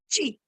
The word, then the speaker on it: qi: It is Qi, pronounced as Qi.